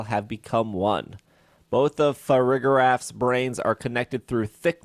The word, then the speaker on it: Farigiraf: I would pronounce that Farigiraf. Like giraffe for rig, Farigiraf.